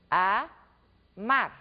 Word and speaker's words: amar: tônica a última sílaba pronunciem a palavra o verbo amar por exemplo a Mar repitam amar amar amar percebem que fica no ar a sílaba pronunciada com maior intensidade